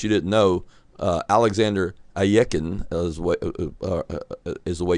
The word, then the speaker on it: Alekhine: didn't know uh alexander ayeken as what is the way you say his name some some people say are you keen but that is incorrect i believe it's a yeken but alekhine as we